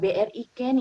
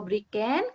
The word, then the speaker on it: BriCane: selanjutnya berarti ini bergenre bacanya bryken Ya gue ya bukan BRI Chan ya tentunya karena bukan